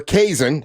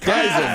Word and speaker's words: Kai7en: out some event where Kai7en, I say it right? Kai7en. Damn it, Kai7en. Think of a Kaiser roll.